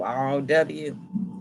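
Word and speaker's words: rho: It's spelled, it's spelled different, but it sounds like row, R-O-W, and it's R-H-O, R-H-O, row.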